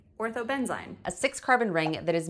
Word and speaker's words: ortho-benzyne: before publishing this video, I learned that it's pronounced ortho-benzyne, not ortho-benzyne, which makes sense because they're spelled differently. So when I say that again in another minute in the video, just pretend I'm saying ortho-benzyne.